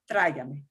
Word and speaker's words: Tráigame: Accent on the A or the I? On the A. Tráigame. On the I. Otherwise, it would be tráigame. Sounds like a True, horn. true, true. Sounds like a horn.